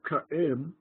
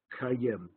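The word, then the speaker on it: קָאֵים: to a Talmudic Aramaic, the word ka'im, ka'im, two syllables, ka'im, with a bit of silence between the two syllables, ka'im, by the time you get down to Talmudic times, the aleph was totally lost, and the two syllables just blended together, like cooperate, just blended together, and ka'im became kayem, kayem, and it began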